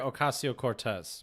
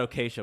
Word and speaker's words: Ocasio-Cortez: Alexandria Ocasio-Cortez. Mm-hmm. Right. So it's not Acacia, but I did have the word right. I just pronounced it wrong.